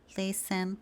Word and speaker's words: listen: Então palavras como listen, castle, fasten, whistle. Aqui a gente tá ignorando completamente a presença do T.